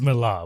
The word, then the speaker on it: Millar: a mark Mala comic is it milar or Miller because Mila is not a name it's Miller with an a it's a yeah but